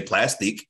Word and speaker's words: Plastiq: Spelled like plastic, but I just say plastic, right?